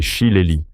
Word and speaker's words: shillelagh: Cet objet redoutable est un shillelag, prononcé shillelagh, un bâton ou gourdin traditionnel irlandais.